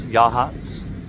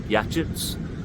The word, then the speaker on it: Yachats: The town I'm in is Yachats. It's spelled like Yachits, but it's a Native American word.